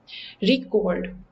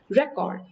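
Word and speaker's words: record: verb के case में pronunciation हो जाती है रिकॉर्ड, और नाउन के केस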